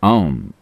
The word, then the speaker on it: ओम: से किया जाना चाहिए अम मंत्र में तीन आवाजें हैं आ उ और म यह आ उ और म जब आप इसका उच्चारण करते हैं तो उन्हें लगभग बराबर होना चाहिए और आपको नाभी के